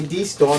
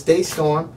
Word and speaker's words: DeStorm: cuz I hate when people call me D storm and it's Day storm so I try to